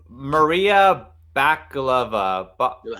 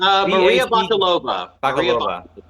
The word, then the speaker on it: Maria Bakalova: I can't pronounce it. It's Maria Bakalova. Maria Bakalova.